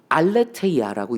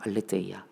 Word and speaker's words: 알레테이아: 이 진리는 알레테이아라고 읽습니다. 알레테이아.